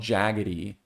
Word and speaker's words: Djaggety: This is from Typeland, and it is called Djaggety. So it's got a D in it, but the D is silent.